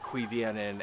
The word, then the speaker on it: Cuiviénen: The elves don't know for sure that Morgoth took the elves from Cuiviénen and transformed them himself, or if it was an agent. Cuiviénen, absolutely. That is how you say that.